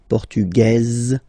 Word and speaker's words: portugaise: Feminine form, portugaise, you pronounce this z sound, okay?